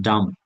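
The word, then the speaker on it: dumb: জানার বাইরে থাকতে পারে যেমন ডাম উচ্চারণটা দেখবেন ডাম বোবা বয়েজ ডাম কোন কিছু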